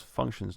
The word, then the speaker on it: functions: Put stress on the first syllable. Functions. Have it at a higher pitch. Hold it out and make it a bit louder.